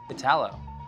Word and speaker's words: Italo: Italo. It's Italo. Basically, it's Italo because they speak Portuguese, those guys. So it's a T. It's not a D.